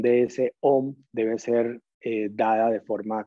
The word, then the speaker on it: Om: Y como nos decía la indicación, la idea es que la M dure el doble de lo que dura la pronunciación de la O.